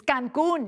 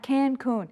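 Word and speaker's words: Cancún: It's Cancun, not Cancun.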